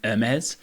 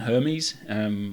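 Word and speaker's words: Hermès: I had to brush up on my pronunciation of Hermes for this rather than Hermes, which I was told is definitely wrong.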